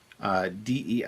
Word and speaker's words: Dei: CCAT um capital dei dei is pronounced the same as day in english so pekka tomb de